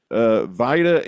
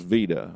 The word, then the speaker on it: Vida: Sergeant Vida Henry, it might be pronounced Vida, I'm not sure, it's V-I-D-A, Vida Henry.